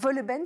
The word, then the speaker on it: Wohlleben: et adaptée du livre à succès de Peter Wohlleben, c'est comme ça que ça se prononce.